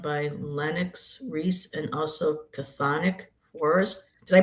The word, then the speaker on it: Chthonic: curated art done by Lennox Reese and also Chthonic Forest. Did I pronounce that right? Chthonic that's right.